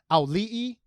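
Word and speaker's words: Auliʻi: who I finally learned how to pronounce her name because it's not easy and it is alih and we actually looked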